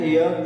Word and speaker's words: heir: Don't see that the word start with the consonant sound H, but the pronunciation of this sound begins with the air. Okay, students, when you will search the pronunciation of this word, you will find air.